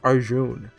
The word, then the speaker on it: Arjun: He pronounced it as Arjun. No at the end.